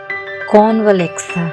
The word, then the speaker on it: Convalexa: चार important switch words कॉन वले था जहां पर ए साइलेंट है पैसे के लिए दूसरा